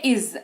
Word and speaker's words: is: वाक्य बनाने में मदद आएगी वो शब्द है इज आई एस इसको इज पढ़ते हैं देखिए ज